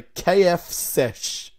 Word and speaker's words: KFCesh: KFCesh. So it's pronounced as S. Yeah. Yeah. So you know how you say KFC? Instead of saying C, you say sesh.